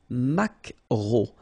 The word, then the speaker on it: maquereau: la truite, le maquereau, so technically this K, just pronounce it K, mac, maquereau, maquereau, alright, and then E, A, U, remember when you combine these three vowels, you get the sound O, maquereau, okay, and then